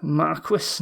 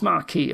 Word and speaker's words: Marquis: card uh is this marquee marquis no it's marquee i think it's pronounced um six cost plus